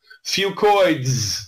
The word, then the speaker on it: Fucoids: Fucoids. Say that 10 times fast. I call it Fucoid Z because that's easier to pronounce. But really, the correct way to say it is Fucoids, okay?